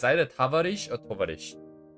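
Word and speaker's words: товарищ: The Russian equivalent for comrade is tovarish, I think. It's either tavarish or tovarish. Because their O, you see this O here, by the way? This O is sometimes pronounced like an A.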